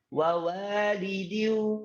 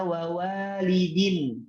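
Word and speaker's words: وَوَالِدٍ: Kemudian contohnya yang lain, wa walidi wa ma walad. Bacanya seperti itu. Wa walidi wa ma walad. Tidak boleh bacanya wa walidin. Wa walidin enggak boleh.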